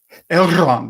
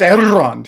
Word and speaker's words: Elrond: Elrond, it's Elrond, he said. Sorry. While you pause to roll your R's, she stabs you.